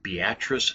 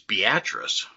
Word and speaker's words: Beatrice: Our next city is often mispronounced in a few different ways, and that's Beatrice, Nebraska.